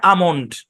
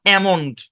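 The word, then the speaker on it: almond: এই এল টা সাইলেন্ট এই এল টা সাইলেন্ট এল সাইলেন্ট হওয়ার কারণে এই পুরা শব্দের উচ্চারণ হচ্ছে আমন্ড নট এমনড নো এ শর্টসন দিবে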